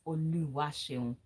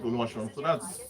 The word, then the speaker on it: Oluwaseun: So because they assume the E is giving it a little bit of sh sound, so it becomes sh, then on, just like SHUN.